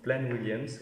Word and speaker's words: Plaine Williams: Plaine Williams, bon, ça se prononce Plaine Williams, oui, ça existe.